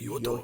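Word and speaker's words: Johto: Did you like how I pronounce it? Yeah, I like that. Yoto. That's how they Yoto region. That's how they pronounce it over there.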